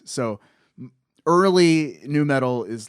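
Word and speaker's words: nü metal: a little, you know, it's new metal, but it's spelled with a U and an umlaut.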